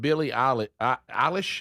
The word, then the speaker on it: Billie Eilish: Okay, so this update with Billie Eilish, is that how you say her name?